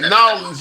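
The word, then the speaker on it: New Orleans: What I enjoy, I would like to see every American enjoy in Chicago, New York, Miami, LA, Texas, Nolans. Did I say that right? Nolans, yeah, you said it right.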